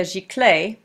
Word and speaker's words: giclée: And this is a giclée print, and if you see it as G-I-C-L-E-E, that's how you say it.